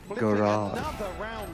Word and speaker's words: garage: Garage. Garage. Garage. I think it was just cross to me, right? Maybe, yeah. What do you say, Shia? Garage? It's the American way of pronouncing it.